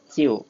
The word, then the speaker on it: 就: 音的时候大家要注意是这个拼音就不是叫就对是副词老